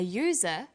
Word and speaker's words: user: So we say an umbrella, but a user, because user sounds like it begins with a Y.